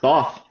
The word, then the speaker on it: Thoth: So welcome, Thoth. Am I saying it correctly? Yes, sir. Thoth.